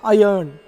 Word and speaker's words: iron: Iron, I-R-O-N, R is silent.